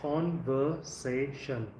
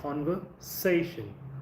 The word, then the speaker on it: conversation: have to stress, like conversation. So you have to stress here, like conversation, conversation, conversation, conversation, communication. So 5 syllables. So you have to stress on the fourth.